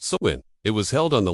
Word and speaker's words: Samhain: their most sacred nights, Samhain, pronounced Samhain.